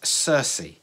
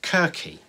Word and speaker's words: Circe: called Circe now I have looked up the pronunciation of this and I am assured that it's Circe some classicists may refer to this as querque but I'm told that Circe is fine it's a it's okay to pronounce